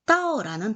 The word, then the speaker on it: 倒: 이 따오라는 단어가 후다오, 이 따오와 똑같습니다. 발음이.